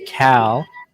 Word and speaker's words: Cal: We have a pronunciation on bib number 38. It is actually Cal.